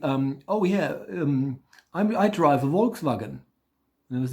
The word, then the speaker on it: Volkswagen: So in Germany, the whole VW thing, VW, in Germany you have to actually reverse it because our V is V. That's our V.